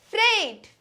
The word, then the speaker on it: freight: is Freight it's not fright it is Freight it is Freight and let me draw your attention to the spelling of this word that is Freight e comes first you might have generally